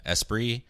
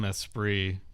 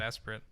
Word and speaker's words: Esprit: esate stuff right yeah espr uh I call him espr like the Lotus which is spelled the same way that is how you